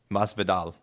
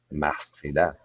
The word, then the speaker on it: Masvidal: Your homework is to learn how to say Jorge's last name correctly. Masvidal. Masvidal. Masvidal. You have to say it like a Hispanic Say it again.